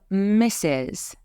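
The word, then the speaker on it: Mrs.: later next we have misses and note that you don't hear an R and misses misses we used for married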